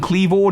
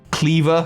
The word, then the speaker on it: Kleavor: which by the way i think i'm pronouncing clever not just cleaver flat i know the etymology of the word is obviously the item of cleaver i think clever not only sounds better but is i think how it's intended